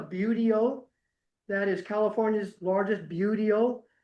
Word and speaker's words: buteo: Obviously, and the way you pronounce that word, that's a buteo.